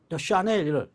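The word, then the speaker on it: Chanel: 랑콤 이렇게 하듯이, 샤넬 하듯이, 뭐 차넬 이러지는 않잖아. 샤넬 보고.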